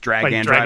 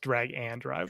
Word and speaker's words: Drag x Drive: Drag X drive I think which drag and drive by the way. It's just drag and drop.